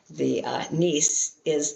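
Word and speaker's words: נסי: The letter is doubled. So then the first one is an S as a closing sound, and the previous syllable, and the nis is the second S as the sound of following the syllable. So you translate it nisi, and if you're transliterating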